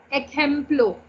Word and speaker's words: ejemplo: Ejemplo. Ejemplo. EJEMPLO. Ejemplo. Ma'am, isn't J pronounced as her in Spanish? Her नहीं, ख.